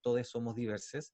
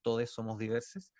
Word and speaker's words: Todxs Somos Diversxs: fundó lo que es todos somos diversas se escribe con x pero nosotros al decirlo lo hacemos con un lenguaje inclusivo es por lo tanto es todos somos diversas y es una organización